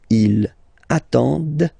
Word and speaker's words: ils attendent: And the last one, same thing, classic ending for il, elle at the plural form, ENT, but then you don't pronounce them. Ils attendent, okay, so remember you get to pronounce this, the D at the end, okay.